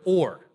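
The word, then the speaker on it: עור: for light is or but with the other letter one of them is ayan rash and the other one is Allah fresh but they're pronounced very similarly and so there's kind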